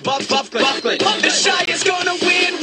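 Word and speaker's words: Byfuglien: It's pronounced Buffley.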